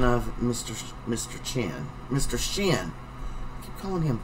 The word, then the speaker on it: Shin: Loop in front of Mr Mr Chen Mr shin calling him chin I don't know why it's spelled s-h-i-n why do I say gin uh